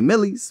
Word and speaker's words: Millyz: my name's Miles so he would just say Millies.